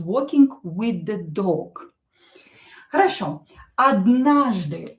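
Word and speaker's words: однажды: Odnahzdy. O not stressed, we pronounce as a.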